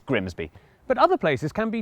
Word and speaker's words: Grimsby: But what if we told you it was pronounced Grimmies? We'd be lying, it's Grimsby.